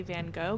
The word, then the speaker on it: Van Gogh: is Kelsey I say van go get over it I do think we are all American and the American way of saying it is Van go so just know that